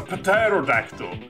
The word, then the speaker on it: pterodactyl: what's that a pterodactyl No it's a pterodactyl cuz there's a hidden p on it what yeah so we